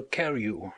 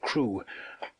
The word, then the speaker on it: Crewe: Madame Pascal pronounced it as if it were carry instead of crew, but that might be merely a matter of pronunciation.